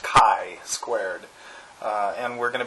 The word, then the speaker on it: chi-squared: talking about uh Kai squared um so it's pronounced Kai squared uh and we're going to be conceptualizing goodness